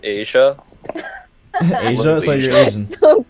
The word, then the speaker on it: Isaiah: It's pronounced Asia.